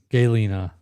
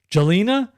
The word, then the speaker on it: Galena: A hard G. Galena. What? Jelena?